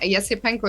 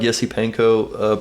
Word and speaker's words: Esipenko: uh why we're pronouncing yes panko is the way it is pronounced in in russian so yeah yeah that's